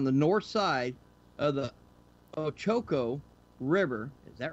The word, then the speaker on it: Ochoco: I wonder how do you pronounce that, Tim? Ochoco. Ochoco.